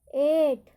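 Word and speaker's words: eight: अब हम आगे चलते हैं GH, कि GH कौन कौन से वर्ड में इसका ये साइलेंट होता है, इसका उच्चारण नहीं किया जाता।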